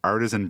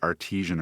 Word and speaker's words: artisan: People misunderstand that, and they always pronounce it artesian or something, which is like well water for beer.